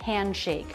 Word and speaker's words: handshake: Handshake. Again, the D after an N before a consonant, that D will usually be dropped. Handshake, no D sound.